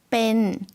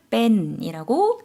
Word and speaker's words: เป็น: เป็น 좀 짧게 발음해 주시면 되겠습니다. 뺀이라고 천천히 지금 발음해 주셨는데요.